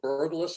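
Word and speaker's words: Berglas: There's a trick called the burgless effect. Yes. Am I pronouncing that correctly?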